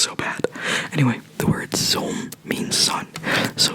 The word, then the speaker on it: zon: So this is zon, because it's a short O. Zon. Oh. It's almost like a French O, right? Like O. So it's zon. Zon. Don't forget to pronounce the N.